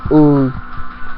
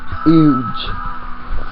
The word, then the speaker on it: huge: Some people say the word huge incorrectly by dropping the H and pronouncing it ooh, huge.